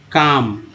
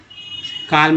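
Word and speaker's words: calm: एल एम, तो यहाँ पे एल जो है साइलेंट है, क्या उच्चारण हो रहा है, काम, काल्म नहीं, काम मीन्स शांति।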